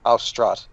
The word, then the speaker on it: Austrat: How do you spell that? It is for flying. The word for fly is Austrat, A-U-S-T-R-A-T, and dance is Vaeri, V-A-E-R-I.